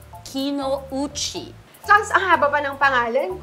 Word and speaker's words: Kinouchi: to tell yung mga kapitbahay natin yung tamang pronunciation ng last name mo turo na natin sa kanila It's Kino uchi Kino uchi ang haba pa ng pangalan ko bakit ba